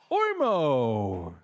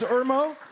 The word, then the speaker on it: Irmo: next startup please welcome ormo Irmo did I pronounce it the right way it's Irmo okay you got the microphone